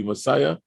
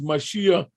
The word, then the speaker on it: Mashiach: that's my jewish name i pronounced my name incorrectly messiah he said your name is mashiach and i want to